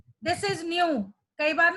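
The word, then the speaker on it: ν: v is frequency, sorry, this is not v, nu, this is nu, it is pronounced as nu, so it is frequency, it is frequency of that radiation.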